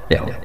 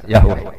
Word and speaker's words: Yahweh: Yahweh. Nak teng ejaan Latin Y besar A H besar W E H besar Yahweh. Lah Yahweh nak sampean maca ya Allah mbok imalahno iku ya wis napa? Yahweh sama.